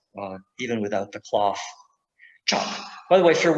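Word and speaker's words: cap: even without the cloth chop by the way if you're wondering that c in indonesian a c is pronounced ch cha so that's a chop and that's that other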